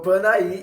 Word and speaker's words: Panair: da Avenida Monte Castelo, tem a rua Panair, que eu vou colocar aqui como se escreve Panair para vocês. E vou colocar agora como se escreve Paner para vocês. A rua Panaí e a Travessa Panaí, que é onde ficavam